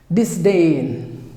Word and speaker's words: disdain: एथिरे मध्ये दुईटा syllable DUHS like DAYN. disdain.